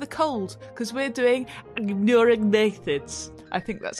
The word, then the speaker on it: Anurognathids: and also with a cold, because we're doing Anurognathids. I think that's how you pronounce it, isn't it, Dave? The Anurognathids, yes.